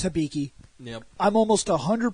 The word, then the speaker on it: Hibiki: Hibiki which hopefully that's the correct way to pronounce it concern how somebody shows up its Hibiki yeah I'm almost a hundred percent positive there's not a difference it's Hibiki Hibiki we say Rider that's technically wrong but